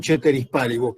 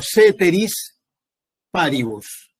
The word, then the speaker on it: ceteris paribus: La condición ceteris paribus, que ustedes la van a tener escrita como ceteris paribus, pero se pronuncia ceteris paribus.